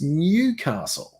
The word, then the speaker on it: Newcastle: It's Newcastle. When Americans say soda, oh yes, that's another one.